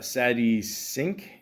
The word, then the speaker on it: Sadie Sink: Also, shout out to Sadie Sink.